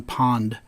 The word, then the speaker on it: Pwned: Well, today I want to talk about a service called Have I Been Pwned, or pwned, or, there's different ways to pronounce that.